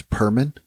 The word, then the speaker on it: Perman: have come yeah yeah yeah for what is Perman mhm Perman with a p yep okay it's